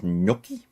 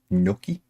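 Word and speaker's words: gnocchi: That is noki. G is silent noki because otherwise you end up with ginoki.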